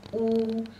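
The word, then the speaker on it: 五: The pronunciation is wu. Wu is third tone.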